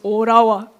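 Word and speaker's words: Ottawa: J'ai compris que Otawa vous ne prononcez pas le le le temps. C'est Orawa.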